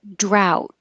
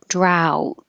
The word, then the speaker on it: drought: means to pursue or to follow ensue and drought this is um a long time without water ow drought um I spelled it with an au more similar to the phonetic symbol Au ow drow but it's very similar in spelling to one